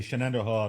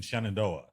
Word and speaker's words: Shenandoah: We're talking with Barry Lee Bowser in the Shenandoah Valley. Now, it is Shenandoah Valley rather than Shenandoah. No, it's Shenandoah. It is Shenandoah.